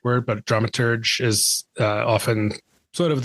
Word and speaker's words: dramaturg: difference is and and is that the right way to pronounce dramaturge um dramaturg yeah the a lot